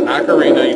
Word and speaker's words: Ocarina: the old word of time Daniel it is Ocarina you cannot tell me otherwise you say it